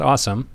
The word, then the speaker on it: Asim: Voila, we have Asim Ghaffar, founder and CIO of AG Capital, joining us today. Yes, his name is literally pronounced Asim, spelled A-S-I-M.